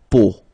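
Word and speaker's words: peau: it but then so the sound that you will have to pronounce when you've got the these three vowels combined together it's the sound o okay it's a really simple o okay so you get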